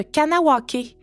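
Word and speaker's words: Kahnawake: Conawaga est l'ancienne prononciation de Kanawake, la communauté autochtone qui est située sur la rive sud de Montréal.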